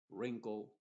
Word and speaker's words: wrinkle: Y la W en palabras que empiezan con WR también es muda. Y solamente pronunciaríamos desde la R hacia adelante. Wrist, wrinkle, no trate de pronunciarlo